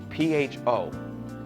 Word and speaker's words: pho: P-H-O. I know it looks like pho, but it's not. It's pronounced pho.